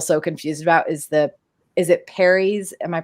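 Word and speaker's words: peri: that I'm still so confused about is it Perry's? Am I pronouncing that correctly? Yeah. Perry's.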